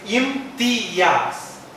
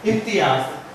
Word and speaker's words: Imtiaz: So I don't want my name to be mispronounced. It's Imtiaz. Okay, that's enough. Nothing about the trainer. Imtiaz. This is the great thing which I have in my back. My name. Pronounce it right. Imtiaz.